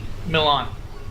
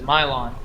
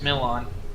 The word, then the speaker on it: Milan: area for a city milan that's how that's pronounced that's how i passed it he said mylon it's milan no i said my